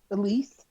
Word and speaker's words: Alice: it's an uncle actually in that era it might have been spelled Alice but it's pronounced Elise no I'm just I'm